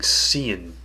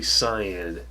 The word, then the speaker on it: cyan: another scene or cyan I always pronounce it wrong cyan got into the habit of saying scene but it's really signed sigh and through this next